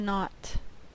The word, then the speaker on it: knot: it up like this tie a knot the K is silent tie a knot don't